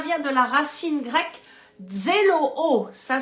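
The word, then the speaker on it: ζηλόω: Cela vient de la racine grecque zéloo, ça s'écrit Z-E-L-O-O, zéloo, je trouve ce mot très joli, amen, on se dirait en francophonie, oh, zéloo, avoir donc un zèle ardent.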